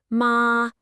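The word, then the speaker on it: 麻: Let it rise, ma, and it means hemp. A little dip, ma. And suddenly you're talking about a horse. And a sharp fall, ma, means to scold.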